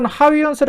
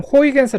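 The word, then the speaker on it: Huygens: 크리스텐 하위헌스의 이름에서 따죠데 여기서 하위헌스 했는데요 내가 공부할 때는 호이겐스 아고 했습니다 근데 이제 좀 더 네덜란드 발음에 가깝게 하느라고 이제 호이겐스 요즘 이제 하스라 하이언스 이제 부르는 거 같습니다 그림은 하이언스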